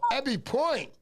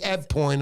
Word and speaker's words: Eb Point: Ebby Point. Just bring that up to the camera right there. Ebby. Hey, Ebby. No, I'm saying it wrong. It's Eb Point. I'm just kidding around. There it is.